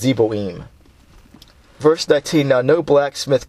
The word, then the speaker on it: Zeboim: Yeah, and that's pronounced Zeboim.